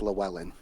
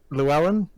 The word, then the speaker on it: Llewelyn: lack of this blue by the way it's pronounced Llewellyn Llewellyn it's it's the mister that's the name of